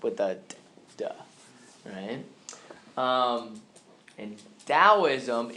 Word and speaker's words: Taoism: with the TT AO is M everybody say Taoism all right so it's spelled with the T but it's kind of pronounced with that and Taoism its purpose is to achieve harmony with nature